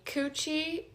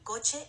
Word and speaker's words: coche: The correct pronunciation is mi coche está muy sucio. Pay attention to the difference. Coche sounds like co-che and not coochie.